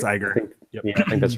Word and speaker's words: Iger: So next up, Disney CEO Bob Iger. Hopefully I said that. I think it's Iger.